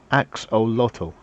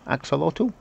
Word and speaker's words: axolotl: Axolotl. Axolotl? Was that what it is pronounced?